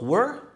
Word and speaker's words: were: وايد ناس ينطقون كلمة were مثل where اللي هي أين نطقها نفس where اللي يلبس بعد فتقول I wear this ولا where are you هذيل لهم نطق مختلف عن كلمة were اللي هي الماضي من كلمة are اللي هو كنا أو كنت فالكلمة الأولى تنطق were والكلمة الثانية تنطق where. انتبه عشان ما تغلط في النطق بينهم.